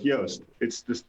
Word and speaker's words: Yoast: JOOST: And I'm the founde of Yoast. You pronounce it exactly the same. That's for a reason.